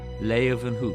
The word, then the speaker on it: Leeuwenhoek: Then they pronounce it with a V. Hoek. Leeuwenhoek.